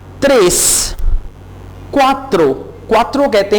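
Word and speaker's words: tres: त्रेस, टी को आपने ट्रेस नहीं कहना, आप इसे प्रोनाउंस करेंगे त्रेस, यानी जैसे ते होता है ना।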